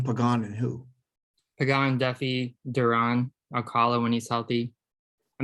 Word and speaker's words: Duran: his first name um my understanding is it's johan duran okay not durian it's duran so he throws 101